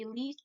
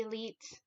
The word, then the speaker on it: Elite: I know it is the elite, not the elite. It is the elite.